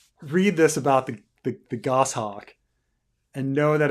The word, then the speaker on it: goshawk: doing what were you doing with with the ghost shocks you're right or Robert doesn't know about it you think of all the it's pronounced goshawk fine goshawk um see this is one of those situations